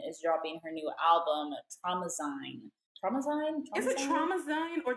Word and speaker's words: Traumazine: So she posted just this blank, or just the definition of traumazine. That's how you pronounce it.